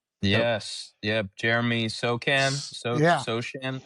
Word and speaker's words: Sochan: Yep, Jeremy Sochan, So- Sochan. How do you say his name? Yeah, you got it, Sochan.